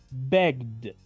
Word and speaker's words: begged: Es muy común decir begged. La gente, los hispanohablantes, cuando inician en el inglés, pronuncian así, pero es incorrecto. Escuchen de nuevo cómo digo. Begged. Begged. Pronuncio la ED como una letra D y esta E prácticamente queda muda.